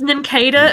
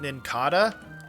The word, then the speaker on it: Nincada: I was just going to say, like, all my life I've pronounced it Nincada, but since it's based on a cicada, Nincada makes much more sense.